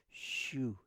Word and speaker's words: xu: Okay they write this and we I've showed you this before it's xu and it's pronounced shu shu.